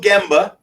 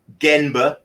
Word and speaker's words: gemba: google it right google gemba and actually sometimes in Japanese wrote ganba as well that's not wrong it's just a different pronunciation I believe or dialect but ghin burro gemba